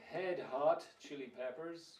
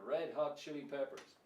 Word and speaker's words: Red Hot Chili Peppers: know the name okay but I've heard various pronunciations of this some people might say head Hot Chili Peppers which means cabeza can she write or you could have red hot chili peppers which is red Vermillion rot is Padre you